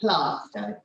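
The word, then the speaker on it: Plaistow: presentation thank you i believe you pronounce the area as placer and that's the one in sussex this one is called plasto i do apologize i'm not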